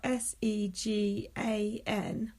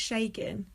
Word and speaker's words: Segan: It's spelled SEGAN, but it's pronounced Shagan, and everyone calls him Segan, and he Right.